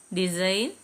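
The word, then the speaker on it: design: ഇതിലെല്ലാം H silent ആണ് silent G വരുന്നത് അലൈൻ ഡിസൈൻ സൈൻ ഇതിലെല്ലാം ജി സൈലന്റ് ആണ് അങ്ങനെ ഇതുപോലെ ഓരോ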